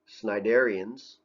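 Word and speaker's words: Cnidarians: shot so here's one group that's in there sniderians is how you pronounce that i think this is like jellyfish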